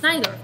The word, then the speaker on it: Najdorf: It's Najdorf.